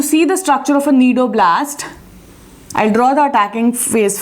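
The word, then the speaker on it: cnidoblast: cells are known as nidoblast cells. They are known as nidoblasts. Starts from C, C is silent.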